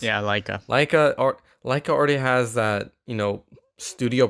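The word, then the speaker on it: Laika: And we have Missing Link, which is a Leica production, stop motion animation film.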